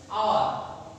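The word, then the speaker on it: hour: আওয়ার, আওয়ার মানে ঘন্টা, এটা হওয়ার দরকার ছিল এইচ ও ইউ আর, হাওয়ার। অনেক কিন্তু হাওয়ার উচ্চারণ করে, কিন্তু এটা ভুল, কারণ এইচ এখানে অনুচ্চারিত উচ্চারণ হয় না।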